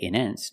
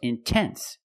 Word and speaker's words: intense: If you have a stress after the NT, if you have a stressed syllable after NT, then you have to pronounce the T. Example, intense. I put the stress after the NT, so I have to pronounce a T. I cannot say immense. No, it's intense.